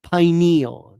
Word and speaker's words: pineal: However, it's pronounced pineal.